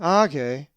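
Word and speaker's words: ἄγε: If you said age, you are correct as the accent is over the alpha. Age.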